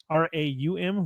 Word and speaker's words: Raum: They came back and they got a goal back thanks to a deflected free kick from Raum, R-A-U-M, Raum, I think he's pronounced that.